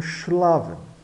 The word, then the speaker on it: schlafen: SCH dá o X, X de xará, o SH de show. Então, schlafen.